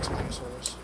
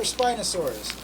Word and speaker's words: Spinosaurus: Now, is it Spinosaurus or Spinosaurus? I call it Spinosaurus because of the spine, but I honestly think it's pronounced Spinosaurus.